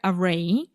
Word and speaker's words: array: wider array array array sorry the stress is on the second syllable yeah for a wider array of possible use cases